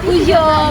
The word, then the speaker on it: Peugeot: Tapi bukan Peugeot Sal, Peugeot bacanya, ya jangan salah. Tulisannya Peugeot. Tapi bacanya Peugeot Sal.